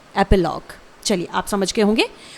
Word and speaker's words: epilogue: है one word में एपिलॉग। Spelling है EPILOGUE, इट इज एपिलॉग। ध्यान रहे, इसे आप एपीलॉग नहीं बोलेंगे, ये गलत प्रोनाउंसिएशन हो जाएगा। इसे आपको सिंपली प्रोनाउंस करना है एपिलॉग, ठीक है।